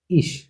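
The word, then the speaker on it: ich: ভয়েলের পাশে যদি সে হা থাকে, তাহলে এ ই ভয়েলের পাশে যদি সে হা থাকে, তাহলে ইস স্বয়ের মতো, যেমন ইস। ই ভয়েলের পাশে আছে সে হা, এর জন্য এটা উচ্চারণ কি ইস, স্বয়ের মতো, ইস মানে আমি।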